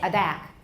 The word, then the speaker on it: attack: We say attack, we don't say attack. The T is between two vowels, but why don't we say attack? Because the second syllable is stressed, so it doesn't work there.